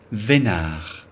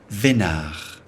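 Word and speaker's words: veinard: Vénard. The final D is not pronounced. Vénard.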